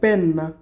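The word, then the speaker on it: penna: পেন কলম তো কলম কলমকে ইটালিয়ান ভাষায় বলে পেন না পি ই এন এন এ পেন না তারপর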